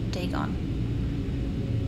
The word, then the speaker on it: Dagon: the fish god okay dagon pronounced dagon was the main deity